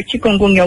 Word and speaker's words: chikungunya: of this name and why is it called chikungunya? Why is it called that? Chikungunya. You're pronouncing it very well.